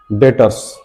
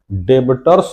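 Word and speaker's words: debtors: डेटर्स अब डेटर्स में बी शब्द को नहीं बोलना है। डेबिटर्स नहीं बोलना है। डेटर्स बोलना है। बी साइलेंट रहेगा।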